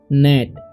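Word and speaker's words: gnat: N eighty ठीक है तो यहां पर जी का उच्चारण नहीं होगा इसे पढ़ेंगे हम लोग नेट नेट नहीं पढ़ लेना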